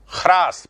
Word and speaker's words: ह्रास: ह्रास, पहले है बोलेंगे फिर रा बोलेंगे।